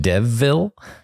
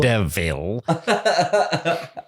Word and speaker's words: Deville: Is it a town called Devville? Devville? Oh. I think it's Deville. It's pronounced Deville. That's good.